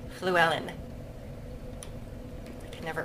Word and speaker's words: Llewellyn: It's got that kind of Welsh, that kind of Welsh double L at the beginning, which has like an F sound to it almost. Llewellyn.